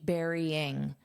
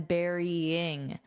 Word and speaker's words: burying: the phonetic spelling, but simply you can just think of it as berry. And then you just add that ing, berrying. So eing, you have to add this Y sound, berry, and then burying. So you have to have that eing, and burying it inside an ant colony.